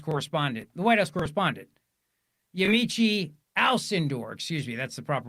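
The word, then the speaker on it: Yamiche Alcindor: But here's Yamichi Almador. This is a flashback to 2020. Then PBS White House correspondent, the White House correspondent, Yamichi Alindor, excuse me, that's the proper way to say her name.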